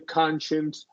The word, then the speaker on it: conscience: I'm getting a conscience.